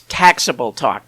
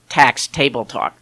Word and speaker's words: Taxable Talk: It's taxable talk, not tax table talk.